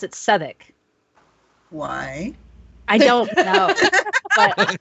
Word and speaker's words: Southwark: was staying but it's spelt southwark a r s-o-u-t-h-w-a-r-k but they pronounce it southwick why i don't know but my british friends